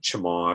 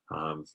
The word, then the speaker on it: chmod: stands for change mode it's sometimes pronounced by people who use it a lot as chamod or chamod shmod and so what we